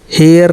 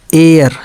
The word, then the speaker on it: heir: HEIR हेयर नहीं बल्कि एयर, यच को छोड़ देते हैं हम लोग।